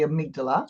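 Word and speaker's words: amygdala: what are they saying but it's actually the amigdala you know I did a YouTube video before where I pronounced it wrong the whole bloody video oh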